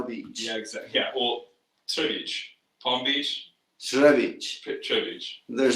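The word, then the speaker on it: Třebíč: Here, Trebic, Trebic, but it's not an R. It's a J. It's a Tj, Trebic, and then the C has the same accent.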